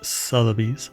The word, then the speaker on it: Sotheby's: I thought there was an R in there for the longest time. Anyway. Is that a Mandela effect? Yeah. But it's Sotheby's. Sotheby's. You have to say it like that. Sotheby's. So it kind of came across like Southern bees. Bees with like cowboy hat.